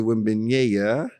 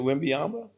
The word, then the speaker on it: Wembanyama: Victor Wembanyama, French cat.